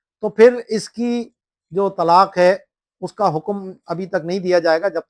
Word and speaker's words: طلاق: حرف کو کر دینا، جیسے اصل جو تلفظ ہے وہ ہے توئیں، لام، الف اور قاف، طلاق، تو اب توئیں کی جگہ تے بول دینا، یا قاف کی جگہ خاف بول دینا، خے بول دینا، یا کاف اور دو